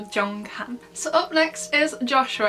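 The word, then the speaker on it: Jeonghan: his real name so this is the j sound and it's kind of pronounced a bit like a ch then we have the r and then we have the ng which again here is pronounced like an ng because at the end of the syllable and then we have the h the a and the n which is han so jong khan so up next is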